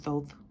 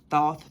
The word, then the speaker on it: Thoth: I don't know why I just heard Thoth. You know who Thoth is. If you do not know who Thoth is, please go through Thoth Thoth.